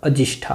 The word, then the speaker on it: अजिष्ठा: गुफाओं से कुछ दूरी पर अजिष्ठा नामक एक ग्राम है जिसका मूल उच्चारण अजिष्ठा है। ठीक है। इस नाम के आधार पर ही वर्तमान अजंता का उच्चारण होने लगा।